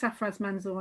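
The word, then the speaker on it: Sarfraz Manzoor: And thank you, Manuela's pointed out that it's Safraz Manzoor. I knew I'd got his name wrong.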